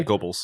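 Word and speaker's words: Goebbels: Is that it's Is it pronounced that way? Yeah. Gobles.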